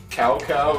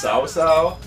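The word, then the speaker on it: Cao Cao: Like apparently, like, Cow Cow is pronounced Sow Sow.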